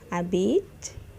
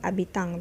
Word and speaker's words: habitent: Mes parents habitent dans une maison à plein pied. Please, not habitant, because you're seeing ENT there. Don't pronounce that NT.